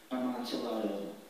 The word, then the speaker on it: amontillado: a pretty consistent language double consonants are except for what you just saw the double l and when you hear those alternate pronunciations think about that tortilla and quesadilla except for flotilla or armadillo at that time you heard all three variations and he was able